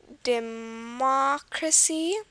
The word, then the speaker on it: democracy: write that down democracy the last syllable is C the second from last is K the third from last is the ma which is where the stress is democracy uh dependability